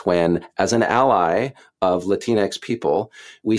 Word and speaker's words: Latinx: as an ally of Latinx people, we say Latinx. So just want to be Latinx. Yeah. So that is, by the way, I got that from Elizabeth Warren. Rhymes with Kleenex.